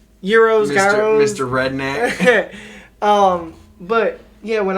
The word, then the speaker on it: gyros: I went and got this gyro. And I was ready to eat this gyro. I ate it. I believe they are pronounced Euros. Gyros.